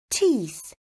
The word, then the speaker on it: teeth: El sonido th al final tiene que fluir cuando rodeamos nuestra lengua con los dientes de arriba y de abajo.